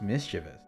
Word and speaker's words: mischievous: But I think it's pronounced mischievous. Which, mischief, you know? And then mischievous. Makes sense.